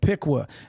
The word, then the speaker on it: Piqua: am from a small town in ohio called piqua that's p-i-q-u-a apparently anybody ever pronounces it right that's what it is after